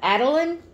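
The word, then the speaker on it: Adalyn: paper is if I can say it right Adeline a-d-a-l-y-n Adeline that was her name on the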